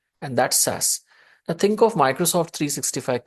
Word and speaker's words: SaaS: Now we have a term called SAS S A S that's how we pronounce and the full form is software as